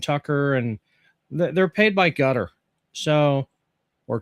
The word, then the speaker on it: Qatar: both her and Tucker and they're paid by Gutter. So, or Qatar if you're not uh familiar with the pronunciation, but yeah. No, they're paid by cutter and so of course they're going to be anti- uh anti-Jew.